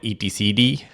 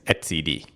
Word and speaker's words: etcd: I used to call it etcd, but I realized that it should be pronounced as etcd.